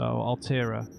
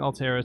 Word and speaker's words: Altera: I'm only saying Altera because I don't pronounce the T properly on Alt. Unless I do it like that, which sounds forced in my accent.